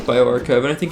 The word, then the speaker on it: bioRxiv: It's BIORXIV, corona, or bioarchive. It's spelled not like it sounds, but it works out.